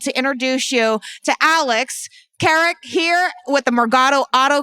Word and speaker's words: Keric: I'm really thrilled to introduce you to Alex Carrick here with the margato auto group and I